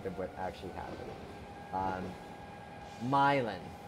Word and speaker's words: Milan: what actually happened um myelin okay with the accent on the my myelin okay slight accents on the the my uh it just says